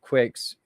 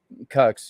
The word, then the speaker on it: QUX: It's called Quicks. That's the way we pronounce it, but I don't know. It's gotten all politicized, and people say Cux, you know, like QUX, Quantum User Experience.